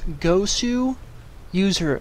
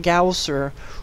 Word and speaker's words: Goswser: ZBZ also featuring millenniums gosu user a lot of people get confused by his name this w in here is actually representative of to use so it's gosu user not ghoul sir or i've heard a